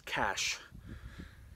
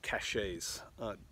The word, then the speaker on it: cache: And so my first thing is this cache. Some people mispronounce it caches.